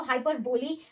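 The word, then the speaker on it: hyperbole: Yes guys, इसको हाइपरबोली pronounce करते हैं।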